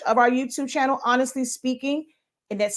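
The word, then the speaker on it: Spinking: i n g honestly speaking just like our product line it's pronounced speaking but it's spelled speaking or was like with the ink in the middle um and silaholics synonymous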